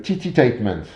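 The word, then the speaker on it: tittytainment: Sixième outil de l'ingénierie sociale, alors le nom est amusant de cet outil, on l'appelle le Titi-Tainment.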